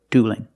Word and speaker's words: dueling: vowels and the word dueling and it's not dwelling don't pronounce that e it's one sound ooh plus a dark L dual and dueling let's